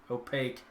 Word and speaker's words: Opakue: a mix-up on bam word pronounced just like opaque got it opaque thank you brother all